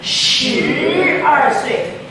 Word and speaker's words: 十二岁: You need, I don't know, you don't, do you feel tension in your diaphragm when you say 十二岁? If you don't feel it, you're not doing it right.